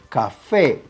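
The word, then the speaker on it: café: you some other examples let's say the word cafe right if you hear that this is the stresses syllables you are absolutely correct this is the last syllable this is a palabra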